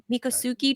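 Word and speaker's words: Miccosukee: to as alligator Alcatraz, handing environmentalists and the Mikasuki tribe, is that how it's pronounced? Mikasuki tribe of Indians a win.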